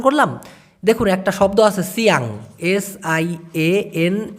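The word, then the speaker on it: siang: উচ্চারণ করতেছি সিয়াল অথবা মালাং কেন এত দুইবার উচ্চারণ করলাম দেখুন একটা শব্দ আছে সিয়াং এস আই এন জি সি সিয়াং সাধারণত ভোরবেলাকে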